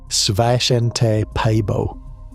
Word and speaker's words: Svante Pääbo: Svante Pääbo, pronounced Sva-shen-te Pai-bo, wanted to read the DNA of dead species.